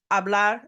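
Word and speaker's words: hablar: a lot don't forget the H is silent abl is to speak and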